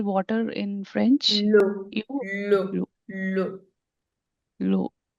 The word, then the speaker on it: l'eau: Loud. L'homme will be pronounced as l'homme, which is the man.